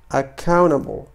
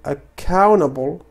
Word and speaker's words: accountable: فهنا نقول accountable okay وليس accountable. ففي American accent هذه نصيحة، ربما هذه هي المرة الأولى التي سأقوم بشرحها، ولكن في الغالب إذا جاءت T بعد N لا نقوم بنطق T، تي تذهب لا تنطق.